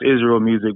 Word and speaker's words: Israel Musiq: used to be like, it's pronounced IsRael Musiq because of IsRael Musiq.